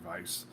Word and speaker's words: Weiss: season one's primary villain, Verrucht Weiss, or Weiss, if you want to be a little more accurate with your German pronunciation there.